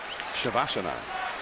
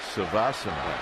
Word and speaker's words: Shavasana: So if you pronounce it, say it. Shavasana. Savasana.